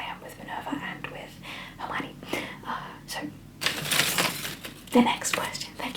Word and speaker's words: Hermione: love her and and i used to pronounce her name emily eminini emily my only emini no it was harmony in my head am i his name